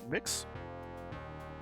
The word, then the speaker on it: Mx: MX, as in not Mrs. or Mr. How do I even say that? Mix? Yeah, you know, the genderless version of Mr. and Mrs. I'm guessing that's just pronounced mix.